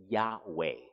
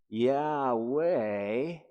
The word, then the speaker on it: Yahweh: are probably familiar with yahweh yeah way is i mean if i was if i was wayne's world guys yeah way it's like this was way no way and i think that